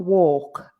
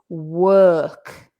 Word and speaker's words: work: So although it's an O, it's not walk, right? It's work.